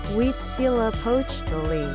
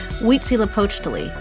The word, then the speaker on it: Huitzilopochtli: Pronunciation. Is that? Oh, okay. Here we go. Huitzilopochtli. Huitzilopochtli.